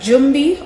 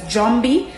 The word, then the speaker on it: Jumby: We have Jumby, or some islands pronounce it as Jomby, which is from the Congo languages, which means ghost.